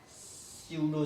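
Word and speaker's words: pseudo: Real science and स्यूडो science होता है। क्या होता है आपका, पीस में साइलेंट रहता है, स्यूडो स्यूडो वर्ड आप लोगों ने सुना होगा पहले से भी।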